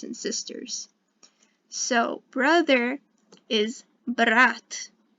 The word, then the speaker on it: брат: So brother is брат. If you don't like your brother, it sounds a bit like brat in English, but it sounds normal in Russian.